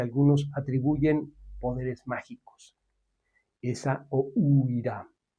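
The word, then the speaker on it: Essaouira: atribuyen poderes mágicos, esa o Uira, que se debe pronunciar muy rápido, como si las vocales casi no existieran en esta palabra, que siempre suena sorpresiva, Sueira, nombre veloz y silbante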